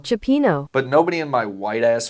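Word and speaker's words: cioppino: I also learned that the bowl of soup was actually called cappuccino. Chipino. But nobody in my white-ass family could pronounce that, so we called it cappuccino.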